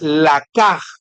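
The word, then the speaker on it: לקח: Y aquí quiero tratar de pronunciarles la palabra en hebreo que es la caj para que dice ganar. Ganar almas. ganar. El que gana, la palabra en hebreo es la caj.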